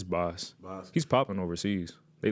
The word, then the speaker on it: Bas: Is it Boss or Bass? It's Boss.